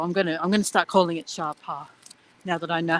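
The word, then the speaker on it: Sapa: So I'm gonna start calling it Shapa now that I know how you're supposed to pronounce it.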